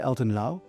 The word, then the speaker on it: Elton Lau: Elton Laauo.